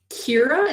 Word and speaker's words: Kira: Kira, is that how you pronounce it? Yeah.